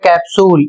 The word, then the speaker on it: capsule: जैसे इसे पढ़ा जाएगा CAPSULE, इसे पढ़ा जाएगा कैप्सूल, इसमें P का उच्चारण और S का उच्चारण दोनों का उच्चारण किया जा रहा है।